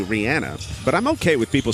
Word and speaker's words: Rihanna: Rihanna, by the way. Is it? Okay. Yep. I've never heard that. That's how you say it, actually.